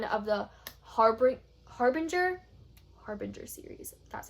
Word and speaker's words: Harbinger: This is book 1 of the Harbinger series. That's how you pronounce it.